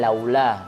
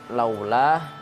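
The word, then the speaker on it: لولا: Di sini guru harus berhati-hati, misalnya pada bacaan laula. Nah, di sini guru harus menjelaskan bahwa pada bacaan laula atau fathah ketemu waw sukun itu bacanya harus dengan mencucu dan jangan sampai berubah menjadi o hurufnya.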